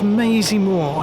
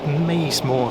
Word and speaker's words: Maisemore: So we're now in the village of Mayseymoor. I know some people actually pronounce it Maysmore. So I'm from Gloucestershire, and I know people also from the county that pronounce it either way.